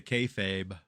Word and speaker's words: kayfabe: It's a the kayfabe. What's that? Kay Fabe. I I don't know how to say the word exactly. It's kayfob. Kayfabe. K A Y F A B E.